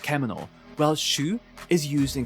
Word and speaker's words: 獣: And just to satisfy the basement dwellers out there, the kanji in shū is usually pronounced kemono, while shū is used in compounds.